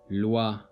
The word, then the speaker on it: loi: in this word the OI is pronounced as wa. Loi.